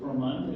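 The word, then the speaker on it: Coramonde: I always said Corromande, but Cromund, is that how you pronounce it? Corromand.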